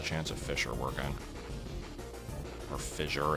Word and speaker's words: fissure: of fer working or fissure as people say it's pronounced I always say fisher I don't know uh